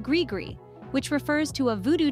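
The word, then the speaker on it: gris-gris: another interesting word is ggre pronounced grigri which refers to a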